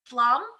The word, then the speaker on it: Pflaum: She has the cowgirl spirit, and her name is Janet Pflaum. Yes, correct. Okay, I want to make sure I'm pronouncing it correctly because our names are so important.